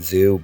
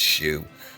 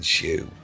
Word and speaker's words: Xu: I've been pronouncing his name wrong for a long time, calling him Jackson Zoo, but apparently his name is pronounced Shoe. It's Jackson Shoe.